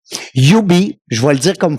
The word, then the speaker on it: Ubee: Un gars persévérant avec une belle équipe aussi Antoine qui va nous parler de Ubi. Ubi je vois le dire comme faut hein. C'est UBI. Ouais on le prononce UBI.